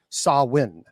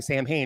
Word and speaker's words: Samhain: Now, by the way, it is not Samhain. That is an incorrect pronunciation. That, by the way, Samhain was pronounced in television shows and movies. And unfortunately, in one of my the Halloween movies, they kept saying Samhain. It was like, it's not Samhain. It's Samhain. That is actually how you say Samhain. That is the correct pronunciation.